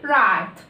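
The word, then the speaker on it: write: احنا بنكتب الدبليو بس مش بننطقها، بنكتبها بالشكل ده ما بننطقش الدبليو، بنقول على طول رايت رايت مع انها اولها ايه؟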